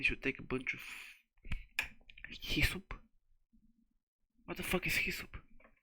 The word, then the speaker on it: hyssop: Passover, and you should take a bunch of hyssop. What the fuck is hyssop? How do you pronounce that shit?